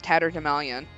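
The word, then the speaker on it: tatterdemalion: brought in today also apparently you pronounce it tattered Himalayan according to Merriam-Webster chatter demalian yes it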